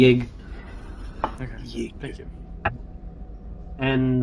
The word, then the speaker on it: Yig: Could you spell it just so I have it correct? Y-I-G, Yig.